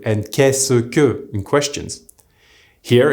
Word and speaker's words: qu'est-ce que: Se becomes the single s sound. This is why est-ce que is pronounced est-ce que, and qu'est-ce que becomes qu'est-ce que.